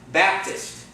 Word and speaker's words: Baptist: Baptist. Where's the accent? First syllable. Baptist. It's not Baptist.